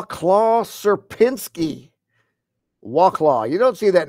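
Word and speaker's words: Sierpiński: triangle oh and here we have the correct pronunciation of serinsky here let's listen to that serinsky serinsky he says it with a little flare there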